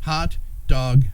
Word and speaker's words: Haute Dague: Couture and then dog d a u g e but it's pronounced dog so you can't spell